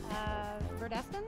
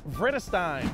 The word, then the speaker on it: Vredestein: Vredestein? Nope, it's Vredestein, and they're the name of today's sponsor. Hey, can you answer a question? How do you pronounce this? Vredestein? No, wrong, it's Vredestein. They've been Europe's premier first-class tire maker for over a century. Vredestein? Vredestein? Edestein. Yeah, it is steam.